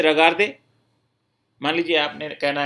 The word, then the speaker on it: regardent: नू रगार्दों, वो रगार्दे, इल रगार्द। जो प्लूरल वाला ILS है, इसके अंदर आपको स्पेलिंग क्या लिखनी होगी, REGARDENT, ENT साइलेंट रहेगा।